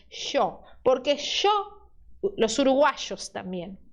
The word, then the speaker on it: yo: Ou você pode fazer o som de SH, que é o som de los porteños de Buenos Aires. Yo.